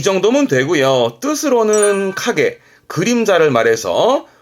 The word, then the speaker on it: 影: 뜻으로는 카게, 그림자를 말해서 발음은 카게, 그림자도 있고 어떠한 모습이라든가 자취들을 말합니다만 주로 그림자와 모습을 의미하게 되고요.